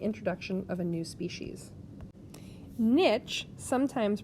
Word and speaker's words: niche: Niche, sometimes pronounced niche, but more commonly in biology in the U.S.